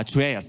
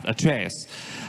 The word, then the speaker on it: Atreus: yeah because I really want to get my pronunciations correct at trus yeah atraeus thank you yeah atraeus uh so can you tell me how you